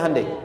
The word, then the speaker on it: Hyundai: Hyundai kan dibacanya Hande ya kan? Sana Honda, sini Handai gitu.